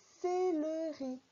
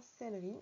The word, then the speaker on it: céleri: afficher du céleri alors on a tendance à dire sellerie mais ça s'écrit bien c'est le riz il ya bien trois syllabes quand on parle d'une